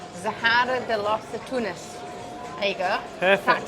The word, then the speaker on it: Zahara de los Atunes: It's called Zahara de los Atunes. There you go. Perfect pronunciation.